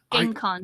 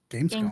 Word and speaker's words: Gamescom: I mean, Can I- E3 itself, GameCon. I hate to say it like this, Gamescom. GameCon. Yes. Yeah, Gamescom.